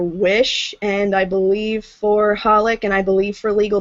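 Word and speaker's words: xxxHolic: I think it's just holic. I don't think you're supposed to pronounce the X's. I think it's just pronounced holic.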